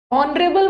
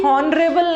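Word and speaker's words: honourable: ऑनरेबल में भी हॉनरेबल नहीं है, हॉन, एच साइलेंट है, ऑनरेबल, ऑन ए, ऑन, मतलब ए नहीं आ रहा है, ऑनरेबल ओ, इसमें भी एन लगाना।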